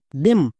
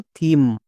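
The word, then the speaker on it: theme: তাহলে এর উচ্চারণ হবে টিএইচ ই এম ই দেম। একদমই ভুল, এর উচ্চারণ দেম করা চলবে না, এখানে টিএইচ এর জন্য থ হবে।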